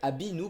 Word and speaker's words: Abinu: pour la version espagnole c'est Abinu pour la simple et bonne raison que en espagnol le B et le V se prononcent pareil, donc du coup pour eux Abinu et Avinu c'est la même chose.